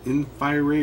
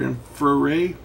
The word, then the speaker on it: InfiRay: the one by infrared it's pronounced in fiery or infraray anyway we're going to